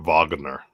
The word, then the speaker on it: Wagner: It's pronounced Kurt Wagner.